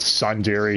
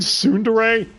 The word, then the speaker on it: tsundere: and she seems somewhat sun dairy towards cohen i know somebody don't you mean tsundere i'm pronouncing it the way tts does but all right let